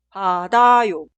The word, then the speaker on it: 받아요: La primera conjugación se escribe así, pero suena 받아요, 받아요, 받아요.